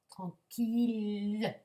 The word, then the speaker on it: tranquille: ayant tu pour dire attention une ville milieu tranquille ces trois mots on verra hideuse elle mais on ne prononcera pas le son yg mais les autres